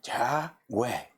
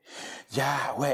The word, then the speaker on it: Yahweh: Pero los hebreos, los judíos dicen de que estas palabras YHWH es como una respiración, es como cuando se respira. Y pronuncia Yahweh, Yahweh, es como una respiración.